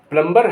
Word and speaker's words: plumber: PLUMBER यहाँ प्लम्बर है लेकिन उसको कहेगा प्लम्बर, उसको क्या कहेंगे? प्लम्बर, नल ठीक करने वाला। प्लम्बर नहीं कहेंगे, लिखा प्लम्बर जाएगा लेकिन कहेंगे प्लम्बर, प्लम्बर। बी का इस्तेमाल, बी साइलेंट है यहाँ का।